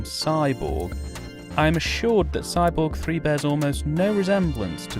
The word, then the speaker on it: Cyborg 3: Cyborg 3, written but never pronounced Cyborg Cubed, is a 1994 action